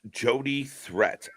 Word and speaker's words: Jody Threat: It's pronounced Jody Threat, LOL.